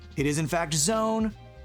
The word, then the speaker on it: Zone: It is in fact a Zone, which rhymes with cone, and that is where we're at.